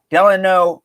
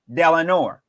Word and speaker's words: Delano: would pronounce this delano i would pronounce delenor delanor not delano eleanor not ilanor del delano delano not delano delano so you're either mispronouncing his name okay if you add an r it's del and or if you don't add the or it's delano delano delano delano not delanor okay not delon nor delon nor delon nor